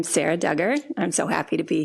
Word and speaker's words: Sarah Dugger: scale textile work that I found particularly intriguing Sarah Dugger did I pronounce that correctly yep yep okay fantastic so